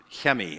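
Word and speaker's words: Chemi: president of Israel's son Hemi his his name spelled like Kimmy and I had dinner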